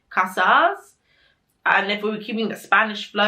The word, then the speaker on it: Casas: they're named right because it's spelt like casa like house in spanish with an s on the end so casas and if we were